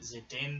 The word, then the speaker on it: Zidane: Yeah, so Zidane there, was the character we played first. He is effectively the main character. I pronounce his name Zidane.